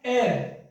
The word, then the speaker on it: heir: क्योंकि इसका प्रोनाउंसिएशन क्या है, इसका प्रोनाउंसिएशन है एयर, इसका प्रोनाउंसिएशन है एयर, इसका प्रोनाउंसिएशन है भाई एयर, ठीक है ना।